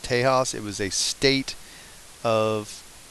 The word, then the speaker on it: Tejas: story here Texas or as Mexico putative is pronounced Tejas it was a state of of Mexico and